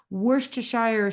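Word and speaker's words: Worcestershire: too we do like it zesty don't we wor T Shire sauce the most mispronounced ingredient in culinary language it is a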